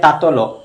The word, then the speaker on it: তাতল: তাতল শব্দের অর্থ কি মৈত্যযুগের কবিতাটি গুলিকে তুমি শেষে যখন ও উচ্চারণ করে পড়তে হবে যেমন তাতল সেখানে খানে পড়তে হবে তাতল তাতল সৈকত বাড়িবিন্দ সম